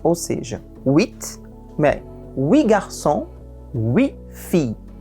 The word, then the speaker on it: huit: Então, o H é mudo e o T se pronuncia se a palavra seguinte não começar por consoante, ou seja, huit, mais huit garçons, huit filles.